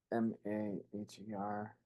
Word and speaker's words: Maher: how do we say it? Maher. Maher.